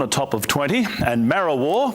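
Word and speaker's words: Marrawah: top of 20 and mara war which is often mispronounced as marijuana partly cloudy day and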